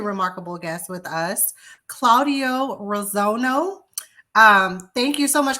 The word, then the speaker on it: Reilsono: your last name correctly came close first of all thank you for having me on I appreciate it and it's real Sono but that's that's good I get all kind of pronounce but that's good you were very close Ro I'm sorry I